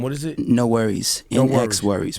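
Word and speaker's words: NxWorries: No Worries. NX Worries.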